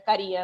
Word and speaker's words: Caría: trajo el apellido y creo que dice que es con acento en la I originalmente, así que está bien. Yo estoy acostumbrada a que me digan Caria, pero es Caría en realidad.